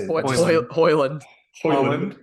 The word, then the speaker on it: Højlund: Hoyland, not Holland.